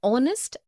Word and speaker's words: honest: also an heir an honest an hour because the words air honest an hour begin with a vowel sound as the initial consonant H is not pronounced article 1.